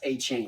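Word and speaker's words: Achane: e at the endang he said it's it's pronounced a chain hold up get the message right here it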